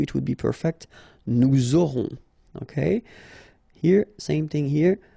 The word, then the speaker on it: aurons: Okay, nous aurons. Final S not pronounced. O and N together, nasal.